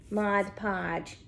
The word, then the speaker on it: Mod Podge: mod podge look at me saying it right mod podge where's my mod podge oh here it is